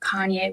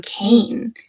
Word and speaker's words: Kanye: do not listen to Kanye West I've never heard of Kanye's song I used to pronounce his name Kane because I'm a little dyslexic and that's how I read it but I was part